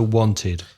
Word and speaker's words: wanted: For example, want finishes with t, so wanted.